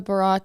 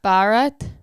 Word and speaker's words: Bharat: It's Bharat, not Bharat. Bharat.